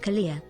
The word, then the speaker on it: Kalia: Tier 1 sub to Queven Kalia. Says it correctly. 31 gift subs in the channel. Kalia though, like Kahlua, like the liquor.